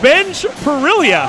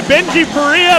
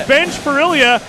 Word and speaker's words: Bene Pilia: tell you I've been saying your name wrong all night and I'm going to blame a couple of your assistant coaches because I asked them for pronunciations it's Bene pilia yeah every time you hit a three-pointer I'm calling you Benji peria but your name is Ben pilia more importantly though benj